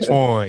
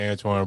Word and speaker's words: Antoine: It ain't Twan, it's Dr. Antoine.